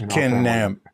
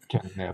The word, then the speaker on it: Knabb: I mean, maybe they did pronounce it, but it's just Knabb. Yeah. Yeah. Knabb.